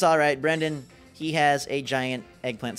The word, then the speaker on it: Brendan: It's Brennan. What's up, Brennan? Brendan. Pronunciation 101.